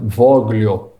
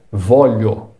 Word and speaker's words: voglio: E um destaque especial para o som de GL na palavra voglio. Lembre-se, em italiano o GL tem som de LH. Então, nada de falar voglio. O correto é voglio.